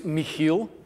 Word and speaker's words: Michiel: So, to say it correctly, my name is Michiel.